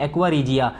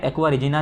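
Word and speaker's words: aqua regia: हैं बच्चों कहते हैं एक्वा रीजिया। स्पेलिंग एक्वा रीजिना लिखा है, एक्वा रीजिना नहीं होता, एक्वा रीजिया होता है, ठीक है।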